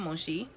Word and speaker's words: Monchy: Like I said, our Airbnb was in Monchi, which is spelled Monchy.